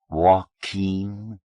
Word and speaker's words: Joaquin: "Joaquin?" "You're pronouncing it right.